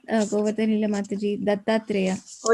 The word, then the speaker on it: Dattatreya: The pronunciation is Dattatreya. How to pronounce it for me, please? You said it right, Govardhanila Mataji, Dattatreya. Oh, it's right, Dattatreya. Okay, okay. I thought I was pronouncing it wrong.